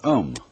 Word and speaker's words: Om: That sound is used because if you spell it out, A-U-M, it runs from the back of your throat to your lips, and therefore it contains the whole range of the voice.